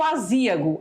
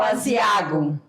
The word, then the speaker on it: aziago: essa dúvida né como é que eu vou pronunciar e o asiago asiago ou aziago é o certo é asiar olha lá e